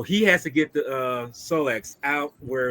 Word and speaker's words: Solex: How you pronounce it? The Rolex or Kotex or Solex. Solex?